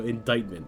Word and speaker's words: indictment: Good old English, you know, indictment with a silent C.